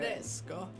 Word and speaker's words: Tedesco: I had to look up a pronunciation for it. Tedesco.